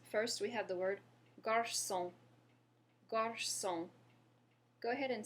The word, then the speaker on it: garçon: First, we have the word garçon.